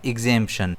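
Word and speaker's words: exemption: इसे हम प्रोनाउंस करते हैं एग्ेंपशन। इसमें स्ट्रेस जेड पर आता है।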